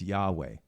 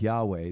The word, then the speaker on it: Yahweh: a custom where they would not pronounce God's word fully God's name fully which is Yahweh which means I am or the great I am but they they would pronounce it yah to speak of God's